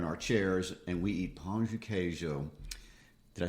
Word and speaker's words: Pão de queijo: or whatever, in our chairs, and we eat pão de queijo. Did I say that correctly? You did okay. You tell us how to say it. You did it right. Pão de queijo.